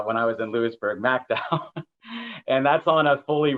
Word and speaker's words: McDowell: in mcdowell county and i learned how to pronounce the county uh when i was in lewisburg macdowell and that's on a fully reclaimed coal mine